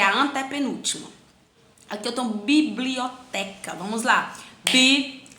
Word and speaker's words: biblioteca: Aqui eu tenho biblioteca. Vamos lá. Biblioteca. A sílaba tônica dela, biblioteca. Então é o té. A sílaba tônica é a penúltima.